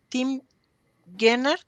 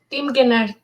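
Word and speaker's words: Tim Guénard: Se llama Más fuerte que el odio, ¿y cómo se pronuncia? Tim Gennard. Tim Gennard. Tim Gennard.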